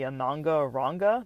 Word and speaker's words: Ananga Ranga: really pronounce this but it's called like the ananga ranga that's what it sounds like a n a n GA a and then the second word r a n g a um and I believe